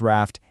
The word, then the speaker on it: RAFT: Raft, pronounced just like the boat, is an acronym.